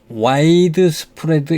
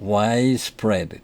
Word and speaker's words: widespread: widespread 이렇게 읽지 않고 widespread, D를 거의 발음하지 않습니다.